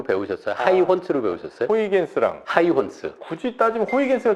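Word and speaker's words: Huygens: 우리 정프로님은 고등학교 때 배울 때 호이겐스로 배우셨어요? 하이혼스로 배우셨어요? 호이겐스랑 하이혼스. 굳이 따지면 호이겐스가 좀 그쵸? 더 뒤에 근데 이것도 바뀌어갖고 요새는 하이혼스. 그 나라의 발음을 따라하자라는 걸로.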